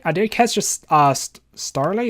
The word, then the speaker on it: Starly: did catch just asked starly is that how you say it yeah storyline keep thinking it's startly but uh yeah so